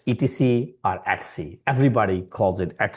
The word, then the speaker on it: etc: etc are at c at c. etc are at c. The professionals would always pronounce as at c.